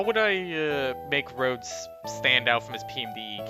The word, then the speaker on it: Rhodes: think Lip has drawn Rhodes as a human before. I have it somewhere in the PMD files. Let me see if I can find it. It's spelled R-H-O-D-E-S. Like, Rhode Island.